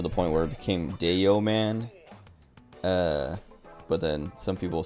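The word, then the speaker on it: Dayoman: name of Deo man spelled like d a y o m a an uh he tells the story every now and then but like it's it's cuz it's supposed to be the yo man cuz uh he used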